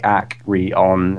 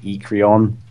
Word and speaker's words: Acryon: too hard to pronounce, like acryon. It's like 3 syllables. Thing is, acryon's a bit like more difficult because one thing it's got ache is the first is the first syllable, which could be taken as like a a bad word, but Yeah, yeah. also technically because we're British, and we pronounce it Aecryon.